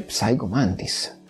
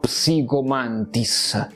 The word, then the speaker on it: Psycho Mantis: sbagliano proprio delle pronunce perché Psycho Mantis si dice Psycho Mantis No psicomantis non sono pazzo a